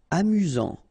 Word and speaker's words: amusant: Amusant. Final T not pronounced. You've got only one S here between the vowels, so it's really this Z sound.